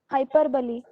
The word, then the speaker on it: hyperbole: this i know sir uh how do we pronounce the word h-y-p-e-r-v-o-l-e hyperbole okay thank you so let us continue now